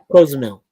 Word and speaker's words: Cozumel: Cozumel. That's how they pronounce it, Cozumel.